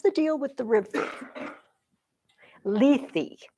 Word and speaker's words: Lethe: Greek and Latin, and they pronounce every letter. Lethe.